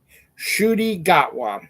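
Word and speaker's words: Ncuti Gatwa: Doctor Who new Doctor Who actor how I pronounce his name Shi gatwa is how you pronounce it and now that now that I know how that properly so shudy gatwa is the new uh doctor and he looks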